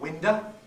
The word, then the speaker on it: window: O in unstressed syllables tends to become schwa, so instead of window you get winder.